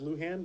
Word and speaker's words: Lujan: Luhan that's her name Al Luhan please pronounced Luhan but yeah secret tactical